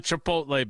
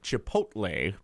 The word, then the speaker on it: Chipotle: no it's not why why can't you say Chipotle you say chipot Lei yeah but I think it's spelled differently it's not actually but be that as it made you're not the only one who says chipot instead of Chipotle but uh it is properly said Chipotle and they have ice